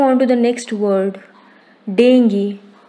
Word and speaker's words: dengue: Dengue. Correct pronunciation is dengue, not dengue.